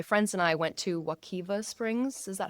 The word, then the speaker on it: Wekiwa: And my friends and I went to Wakiva Springs. Is that how you pronounce Wakaiva. it? Correct. Wakiva Springs, which you were saying is in that Apopka Yeah.